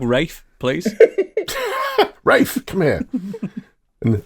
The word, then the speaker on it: Ralph: r f f find you said Ralph FS do you know what because it says Ralph and I've got a dog called Ralph and he just makes me think of Ralph oh yeah well start calling your dog Rafe please Rafe come here